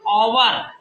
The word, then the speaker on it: hour: आयन, ion honest, HOUR, ओवर, ओवर। तो एच से word का प्रारंभ किससे हो रहा है?